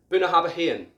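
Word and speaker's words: Bunnahabhain: or abuna have a hain 18 year old buna habahen from isla another famous distillery that seems quite easy to pronounce is this one um i don't have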